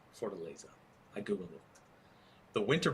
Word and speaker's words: Fortaleza: pronounce it correctly. Fortaleza. What the latest? It's with a Y. Fortaleza.